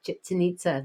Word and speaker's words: Chichen Itza: Yeah, Chichen Itza. Chichen Itza. Think of chicken and nitzas. I don't know. That's kind of the spelling. Chicken Itza. Chickens and nitzas.